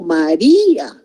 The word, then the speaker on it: María: Entonces yo digo María. No son dos sílabas, son tres sílabas porque el acento está recayendo en la I y la primera sílaba sería ma, la segunda sílaba sería di y la tercera sílaba a.